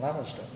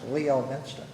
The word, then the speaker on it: Leominster: It looks like it's pronounced Leo Minster. Okay. It's Leominster.